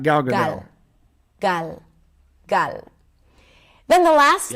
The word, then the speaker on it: Gal Gadot: ombre I've been saying it right it is Gal Gadot that's her name that's not what she said